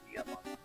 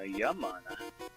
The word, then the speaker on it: Yamana: Manabu Yamana. No, Yamana. That one could have been Spanish, because every vowel was a syllable.